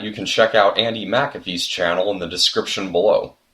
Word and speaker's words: McAfee: can check out Anndi McAfee's channel in the description below. And by the way, yes, I know I've been saying her last name wrong all this time. It's McAfee, not McAfee.